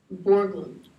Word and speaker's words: Borglum: a danish american and his name is gutson it's spelled g-u-t-z-o-n borglum and his last name is spelled b-o-r-g-l-u-n and